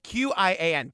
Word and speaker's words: Qian: How do you say the last name? Qian. Oh, Qian. Chen. Qian.